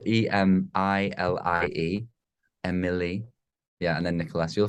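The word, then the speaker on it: Emilie: we'll check her out at emperor yeah and it's spelled e-m-i-l-i-e Emily yeah and then Nicholas you'll find it if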